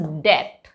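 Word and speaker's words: debt: पर B silent होगा इट इज डेट नॉट डेप्ट इट्स डेट right चलो अब देखते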